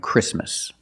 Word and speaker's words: Christmas: And when you see T between consonants, it's silent. Don't pronounce the T. If you link the sounds, do not pronounce the T. Examples, exactly and Christmas.